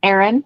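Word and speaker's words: Aran: called worsted afghan or i think it's pronounced iran a or a n aaron yes and typically used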